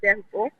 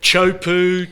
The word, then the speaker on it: Teahupo'o: Yeah, well, I'm sorry for this word because everybody pronounces so so badly, and then when they pronounce chopu, it means a soup in Tahitian.